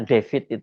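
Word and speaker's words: Defit: Kalau saya tadi nyebut namanya David itu bukan dalam bahasa bukan ejaan dalam bahasa Inggris David itu bukan. Ini tulisannya memang David. D E F I T itu kemudian Febriansyah nih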